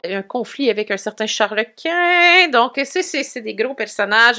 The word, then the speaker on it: Charles Quint: En tout cas, bref, c'est toi qui m'as appris que Charles Quint, c'était Charles Quint, non pas Charles Quinn.